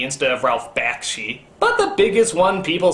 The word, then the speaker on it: Ralph Bakshi: there for whatever reason i could never quite pronounce correctly like judge hirsch instead of judd hirsch ralph bashki instead of ralph bakshi but the biggest one people seem to harp